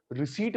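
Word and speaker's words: receipt: छुक छुक करें इसको रिसीप्ट होते होते हैं कि नबी पहले कौन सी कथा क्या बोलते रिपीट क्या बोलते थे रिसिप्ट पी साइलेंट हो तो बच्चे पृष्ठ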